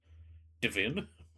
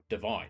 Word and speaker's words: divine: Oh, divine Justinia the fifth divin. I suppose it isn't pronounced divin because divinity is divin but divine. You don't say divinity.